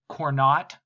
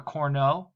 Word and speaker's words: Cournot: All of this was done first by Antoine Augustin Cournot, if I'm pronouncing the French correctly. Some economics instructors may just say Cournot or Cournot, Cournot.